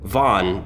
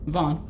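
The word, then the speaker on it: Vaughan: the sky by greg a i wanna say von but it's spelled v-a-u-g-h-a-n von vaughn vince vaughn and same we're kind of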